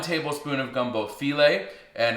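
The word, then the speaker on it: filé: Now I've also got 1 tablespoon of gumbo filet, and it's spelled like file, right, with an accent on the E at the end.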